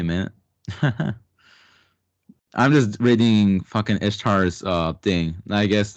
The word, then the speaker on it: Ishtar: How do you pronounce it? Ishtar is how I pronounce it.